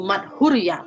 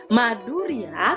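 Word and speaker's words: माधुर्य: kamu udah kelas 12 harus bacanya yang tegas yang bener magmatik hur bukan begitu March Hurriyah Bukan gitu maduria Hai itu artinya manis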